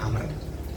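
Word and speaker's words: عمرو: Umar Ani BNI Amr kalau ada ww di belakang itu bacanya Amr yang dimaksud itu biasanya Amr Bin as kalau enggak ada wawunya bacanya Umar ada wawunya kan belakang ya Nah namanya bacanya Amr Amr yang dimaksud itu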